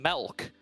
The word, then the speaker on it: Milk: So that's probably going to, as we're being asked to call him Melk, Melke.